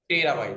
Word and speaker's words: टेराबाइट: टेराबाइट। ट का उच्चारण करिएगा, तो का मत करिएगा, क्योंकि स्पेलिंग तेरा हो गया अगर पढ़ेगा तो तेरे, तेरा।